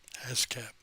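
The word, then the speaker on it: ASCAP: award from the a s c a p ash cap yeah that's that's how it's pronounced here all right okay jan and dean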